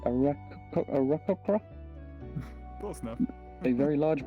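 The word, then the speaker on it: Aarakocra: have no idea how to pronounce this correctly, a rockocra? Close enough. A very large bird, a rogue. Arakoka? I believe that's the Arakoka. correct pronunciation, yeah.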